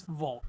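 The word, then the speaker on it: WLG: band known as vul even though it's spelled w LG it is vult with the album Four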